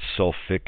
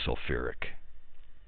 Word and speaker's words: sulfuric: is changed to kick so some people that would write self fick acid but chemists they put that extra syllable in there so it's really sulfuric if on the other